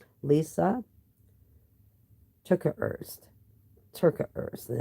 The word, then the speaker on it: Terkeurst: Terkeurst.